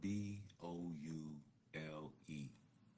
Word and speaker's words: boule: It's spelled B O U L E.